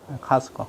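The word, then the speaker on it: Costco: 회사 그걸 뭐라 그러죠 카스트코 회사 선전하는 건 아닙니다 미국에서는이 발음 안 해요 그럼 뭐라 한다 오는 아바라만다 카스코 카스코 코스트코에 없어요 그 물은 유럽식 발음이고 t 발음하는 것은 미국에서는 무겁습니다 그거는 뭐예요 이렇게 발음한다 오늘의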